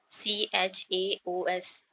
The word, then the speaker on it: chaos: chaos CHAOS the pronunciation is chaos, Hindi meaning is अव्यवस्था।